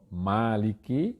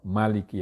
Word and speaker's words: مَالِكِ: lan ana ingkang maca maliki yaumiddin tanpa alif. Jadi kata maliki yaumiddin, maliknya itu ada yang membacanya dengan maliki panjang, ada yang dengan maliki pendek, tidak panjang, tidak mimnya tidak panjang.